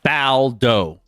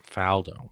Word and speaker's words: Faldo: I said but it might be Faldo. It's Nick Faldo. Faldo.